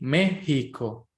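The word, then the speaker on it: México: well this is a weird pronunciation because they pronounce the X again like the hota so they say Mexico they say Guatemala El Salvador remember that this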